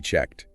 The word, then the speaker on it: checked: The ed ending on checked often sounds like a soft T checked. Have you checked in? That voiceless T sound after the voiceless K sound.